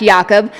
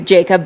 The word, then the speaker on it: Yakob: Actually, it's him saying it, but it is in fact Yakob. We can Americanize it to Jacob, but it is YaKob.